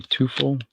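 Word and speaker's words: Teufel: Some people say Tufel. I think they pronounce it Tuffle.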